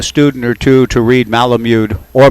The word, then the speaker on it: Malamud: even lead a student or two to read malamud or malamud the proper pronunciation for a summer's reading the 1-1 to